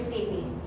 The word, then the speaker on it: stapes: So, stapes or your stape pala, kamala kung paano nila sa yan. Pero para sa mag-pronounce yan is your stapes.